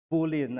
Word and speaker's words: Boleyn: Boleyn ang pronunciation.